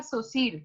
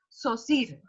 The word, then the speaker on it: Saussure: Se pronuncia Saussure. Hay mucha gente que le dice Saussure, pero es Saussure.